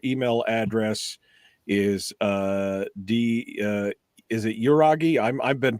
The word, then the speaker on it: Yragui: And again, your email address is is it Yragui? I've been pronouncing it wrong, so I'm sure that if you were in Spain, it's Yragui. Yragui. Okay. It's Basque. It's so Basque. Okay. We pronounce it Yragui.